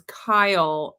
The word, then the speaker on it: Keel: Miriam said that his name is Kyle, but Oh, it's spelled Keel.